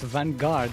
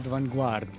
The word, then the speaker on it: Vanguard: It's pronounced vanguard, not vanuard.